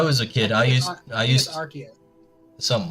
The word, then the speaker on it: Arceus: Arceus. I've never heard it pronounced like that. I pronounce it Arceus. I go through this with every new person I talk to. It is not Arceus. It is Arceus.